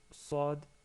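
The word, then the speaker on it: صاد: En termes de prononciation, vous remarquez que Sad ressemble au son de Sin. Par contre, le son il est un peu plus fort. Il ressemble au son de la lettre C, CD.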